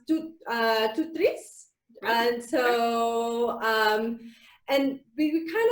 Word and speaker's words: TOOTRiS: So the TOOTRiS word is from, it's a French word, and it's pronounced TOOTRiS.